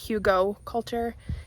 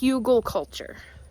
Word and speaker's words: Hügelkultur: I needed to correct myself because I always call it Hügelkultur. It's Hügelkultur. And so then I'm sure that I'm pronouncing it correctly, because I tend to do that sometimes.